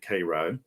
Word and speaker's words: Cairo: georgia called cairo georgia it's spelled like cairo egypt but we pronounce it cairo um i live in